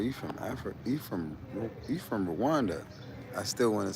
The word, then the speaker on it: Rwanda: We pronounce the R and the W separately.